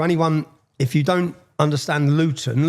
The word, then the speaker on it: Luton: And to anyone if you don't understand Luton Luton see I pronounce my tea there. We don't pronounce our te's.